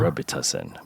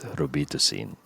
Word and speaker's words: Robitussin: See, yeah, that's the American way, Uh-huh. Robitussin, but in the Philippines it's Robitussin.